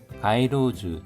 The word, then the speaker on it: 街路樹: 코부리나 타메 좀 작기 때문에 가이로즈 토시데모 가이로즈 발음에 주의해 주십시오.